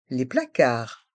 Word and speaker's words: placards: le réfrigérateur le frigo les placards les placards dans le mot placard on prononce bien le a et le r car et le D et le S sont muet les placards les placards